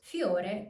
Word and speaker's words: fiore: As you can hear, I'm not pronouncing a full I, but more like a Y. Fiore. Fiore. Not fiore, but fiore. Fiore.